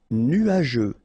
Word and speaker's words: nuageux: Nuageux. Final X not pronounced, and then G-E-U, je.